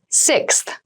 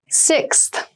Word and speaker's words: sixth: fifth floor don't you sixth sixth sixth so sixth refers to the number six of something this is a really good word to practice some pronunciation slow down that six that middle part there the sixth book from